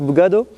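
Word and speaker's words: bugada: Cette grande lessive, on l'appelle la bugado. Comment on dit? C'est ça, la bugado. Ça s'écrit autrement, mais on le prononce bugado.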